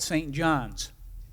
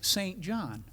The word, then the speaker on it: Saint John: John was that you don't ever call it St. John's. And don't spell it S-T period John. After doing it a couple of times, I was chided, and it's unusual for a Canadian to chide, that Lou, it's St. John.